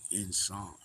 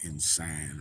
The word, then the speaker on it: insan: Anyway, um, for it to be pronounced insan instead of insane or insane or whatever. It's insan.